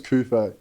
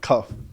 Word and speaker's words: Kufé: Like my last name's Kufé. Yeah. And like, it's got the accents over it because it's French. Bro, all through school I got like cuff, like Kufé.